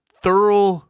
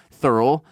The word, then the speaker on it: Thurl: when you're high is thorough Ravenscroft it's a hell of a first name thorough t-h-u-r-l thorough Ravenscroft is spelled exactly as it sounds thurl was an American